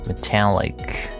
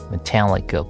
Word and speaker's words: metallic: Thighs and in and shins and feet made of some black metallic metallic plastic like material metallic metallic. I need to check where is stress syllable. Metallic second.